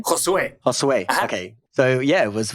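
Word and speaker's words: Josué: And, oh, sorry, I mispronounced. How do you say David's last name? Josue.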